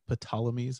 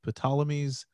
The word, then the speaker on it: Ptolemies: based in Egypt, the Ptolemies. I pronounced the P. And don't pronounce the P, man. I pronounced the P. Silent P. Silent P. And the Seleucids try to conquer the Ptolemies.